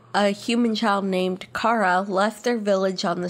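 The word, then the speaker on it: Chara: really John the serf no it's it's pronounced Caro a human child named Cara left their village on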